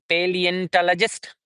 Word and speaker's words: paleontologist: Paleontologist. 1 2 3 4 5 6. Six syllables are there.